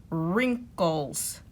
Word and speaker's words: wrinkles: front of it wrinkles so all the w r words that only have the r or sound and we don't hear the w is right wrench wrists rapping wrong and wrinkles so now complete this